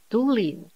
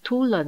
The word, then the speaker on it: tulin: asli 天然的，同义词是 tulin。这个字不能读成 tulen 哦。15.